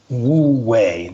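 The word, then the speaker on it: wu wei: but rather living in what the Dowist calls wooi. That's spelled wu wii.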